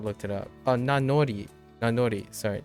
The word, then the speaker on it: nanori: Oh, Nanori. Nanori. Sorry. N or no. Does that make sense? No, it doesn't. Nanori. Oh, Nanori. Yeah, Nanori. Not Nanomi. Nanori.